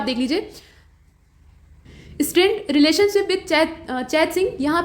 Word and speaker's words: चेत सिंह: यहाँ पे जो राजा का नाम है वो चैत सिंह है, ठीक है। तो चैत सिंह नाम के या चेत सिंह नाम के जो राजा थे, असल में ये चेत सिंह थे और चेत की स्पेलिंग